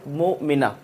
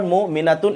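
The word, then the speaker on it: مؤمنة: to stop there, then the pronunciation of this ta'i marbuta is similar to ha. We call this mu'mina. We will not call mu'minatun if I want to stop here mu'mina.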